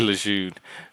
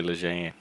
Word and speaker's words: Lejeune: yeah, I say Lejeune, but a lot of people say Lejeune.